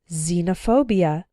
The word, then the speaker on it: xenophobia: ex-husband or ex wife when X starts a word then it's pronounced like Z there are very few of these words in English but a couple of them are xenophobia xylophone and Xerox xenophobia